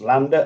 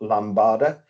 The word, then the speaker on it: Lambda: Lambda value um and it is pronounced Lambda and not lambard as I've heard I